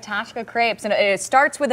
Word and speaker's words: Ptashka: on Monday all right Tasha Crepes and it starts with a P you told me you've you've taught me so much today the p is silent so just so everyone